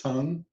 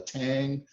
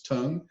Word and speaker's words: tang: this is called the tongue i hear a lot of people call it a tang but it's a dutch term and the pronunciation is tongue and in any case